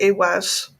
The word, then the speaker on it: Ehwaz: I mean, this one to start with is Iwaz, and that's spelled Ehwaz.